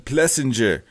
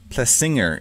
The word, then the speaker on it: Plessinger: we've got mr erin plessinger dang it screwed up his last name plessinger is the correct pronunciation aaron plussinger i expected